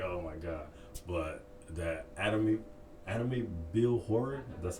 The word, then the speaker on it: Amityville: I know people are like, oh my god, but that Amityville Horror.